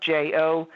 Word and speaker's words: jojoba: that's spelled like jojoba it's spelled like j-o-j-o-b-a but it's pronounced jojoba oil and these nurture